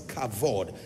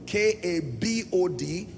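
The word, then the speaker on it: כבוד: will find in many Expressions cavod k a v o d and sometimes you find the V replaced with B so k a b o d pronounce kabod and then in other text you will find cavod in any case here's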